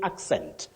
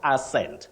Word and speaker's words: accent: Pamela nma of bua you say accent accent not asent so and souls accent